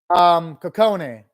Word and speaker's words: Kokone: Kokone. And sometimes I pronounce her name as Kotone as a joke because the Precure characters,